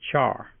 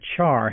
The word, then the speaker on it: char: values whose type is char by the way I pronounce c-h-a-r but care is also an equally acceptable pronunciation since it's short for character and speaking of putting